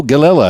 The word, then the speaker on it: Gallela: so uh tell me all about it gelila am i pronouncing it properly yeah you're probably one of